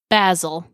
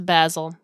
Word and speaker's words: Basil: the Great Mouse Detective basil his name is basil okay it looks like the word we all know to be basil but it's basil okay what is our